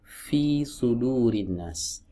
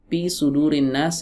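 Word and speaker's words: فِي صُدُورِ النَّاسِ: ya Fi sudurinnas salah yang betul Fi sudurinnas ya harus ada anginnya tapi cara melafalkannya mengeluarkan anginnya itu tidak perlu menggelembungkan TV ya kalau nggak ada anginnya Bagaimana ya salah ya berarti tidak memunculkan sifat hamsnya cacat sifat hamsnya ya Terkadang ada sebagian orang mohon maaf ya mengucapkan huruf F itu dengan huruf P sudurinnas pisudurinas ini dua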